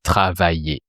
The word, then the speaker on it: travaillais: And you replace the ending by the sound et to make the imparfait. And with er verbs like travailler, it doesn't change because it already ends with the sound et, so it just sounds travailler. Je travaillais.